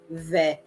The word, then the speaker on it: vais: So technically the S here is silent, so you kind of have to pretend that it doesn't exist.